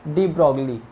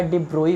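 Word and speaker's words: de Broglie: और वैज्ञानिक हुए थे, डी ब्रॉगली या डिब्रोई भी जिसे कहा जाता है, ओरिजिनल में प्रोनाउंसिएशन डिब्रोई है।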